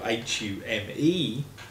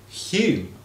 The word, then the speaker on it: Hume: name is now spelled H-U-M-E, but his name used to be spelled the same as my name, H-O-L-M-E. I think it was the same. And that is pronounced in Scotland, Hume.